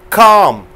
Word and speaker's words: calm: Calm. Talk. Walk. Fork. Arms. Palm. So give a speech pronouncing the L sound.